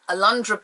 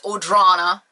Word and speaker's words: Alundra: Alundra Blaze, and I'm saying it right, Alundra, not Audrana, Alundra Blaze.